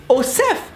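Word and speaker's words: OSEF: in French Oh SOF should be pronounced Oh safe because s e in French is so you know it's not a Z it's a s so it should be Oh SAP not all deaf and what makes it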